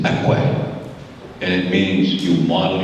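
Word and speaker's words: ikwe: We ask our Spirit, and if you ever think of, in our language, we call our women kwe, and the real pronunciation is akwe.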